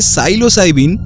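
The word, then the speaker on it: psilocybin: ভালোবাসতেন এখন মাশরুমের মধ্যে সাইলোসাইবিন হ্যাঁ বানানটা অদ্ভুত পি এস আই এল ও সি ওয়াই বি আই এন যাকে অনেকে ম্যাজিক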